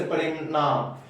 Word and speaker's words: परिणाम: Next है न का उच्चारण कहीं कहीं, ट्वर्गी न का उच्चारण कहीं कहीं अड़ की तरह होता है। जैसे परिणाम, तो परिणाम, परिणाम, प्रणाम। तो यहाँ जो ट्वर्गी न है इसका उच्चारण अड़ की तरह भी होता है।